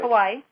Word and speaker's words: Kauai: But I want to tell people this next week I'm going to be in Hawaii, in, how do you pronounce that? Kauai. Kauai, on the island of Kauai.